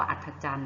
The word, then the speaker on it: อัฒจันทร์: คะ เขา เรียก ว่า อัฒจันทร์ เนาะ อ่า ตัว ได้ หาย ไป คะ อ่ะ แต่ ตัว ที่ หาย ไป คือ ทอ ทะ หาน รอ เรือ แล้ว ก็ เครื่อง หมาย ทัณฑฆาต นะ คะ จำ ไว้